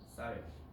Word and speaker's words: 쌀: 경상도 사람이 이거 발음 못해요. 쌀. 경상도 사람들은 살이라고 그럽니다. 물어봐봐. 나중에 경상도 가서 서울 올라온 지 오래된 사람들 말고 경상도 살고 있는 사람들한테 물어봐봐.